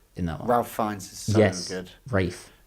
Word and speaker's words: Ralph: a bit stupid yes do you think the L is silent of course it is Ralph he and again